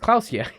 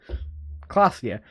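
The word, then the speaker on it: Klaasje: Revachol, Orania, and Klausia is pronounced Klausia. Klausia.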